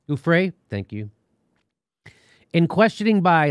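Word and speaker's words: Giuffre: new york and jimmy i think it's pronounced gouffrey ufray thank you in questioning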